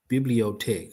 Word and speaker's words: Bibliothèque: Pronunciation. Let me get that first. There you go. Bibliotech.